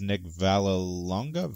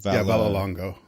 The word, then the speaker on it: Vallelonga: the fact that I want to say the pronunciation is Nick Vallelonga. Vallelonga.